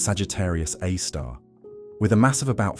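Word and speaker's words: Sagittarius A*: Our own Milky Way harbors a black hole called Sagittarius A star, pronounced Sagittarius A star, with a mass of about 4 million times that of our Sun.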